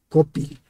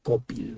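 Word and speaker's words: Cópil: copil hoy en día sabemos que por la pronunciación en agua de esta palabra de debe llevar acento en la o Entonces es copil para los investigadores que saben más de esto lo pronuncian como copil no y bueno Ahí está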